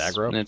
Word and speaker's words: Agro: It's pronounced Argo. I thought it was Argo. No, it's aggro. Aggro. Okay. Look it up. It's AGRO, aggro.